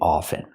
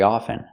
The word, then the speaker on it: often: both ways I prefer to pronounce it with the silent t i don't pronounce the T I say often I speak English very often you can say often